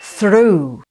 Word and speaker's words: through: And the two words are the correct answer is B, through. Here you have the TH spelling, which can be pronounced as unvoiced th or voiced th.